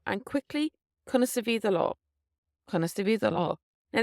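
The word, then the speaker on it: Conas a bhí do lá: How was your day is Conas Avi do law. Conas Avi do law. And quickly, Conas Avi do law.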